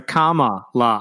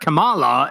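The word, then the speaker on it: Kamala: guest is telling him it's like comma literally the grammar Mark it's a comma La her kamla Harris's office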